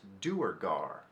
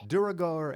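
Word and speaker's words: Duergar: spread misinformation and that it is in fact pronounced do or gar like do or die now listen to me say it wrong duragore and Darrow are both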